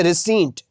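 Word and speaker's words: receipt: Dear students इसमें P silent है। यानी इसमें पी को नहीं बोला जाता। इसको पढ़ेंगे रिसीट प्राउड फखर।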